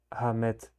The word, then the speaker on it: Ahmed: Oh, Ahmed. Okay, so you don't pronounce the H, because I believe in